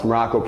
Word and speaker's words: Maroko: I am Coach Maroko, pronounced exactly like the country spelled, nothing like it.